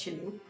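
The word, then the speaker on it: kylling: In Norwegian, chicken is killing. Pronounced chilling.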